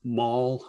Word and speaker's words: maul: But anyway, one last thing I'll say is there's a word in the poem, maul. You can't read it, but it's spelled M-A-U-L, like a blunt hammer as opposed to a shopping mall.